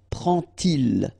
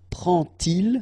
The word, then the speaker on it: prend-il: to show you that you won't pronounce it like D to make the liaison, but you will pronounce it like T. And so you will get prend-il.